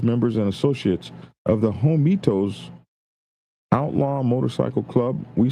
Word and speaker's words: Homietos: Uh Meeklo 1%er for teaching me how to say Homitos. I was saying Homeyatos and all kind of crazy I apologize for getting y'all's name wrong.